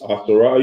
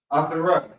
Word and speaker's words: Ahasuerus: Ahasuerus. You can just say Xerxes. Ahasuerus.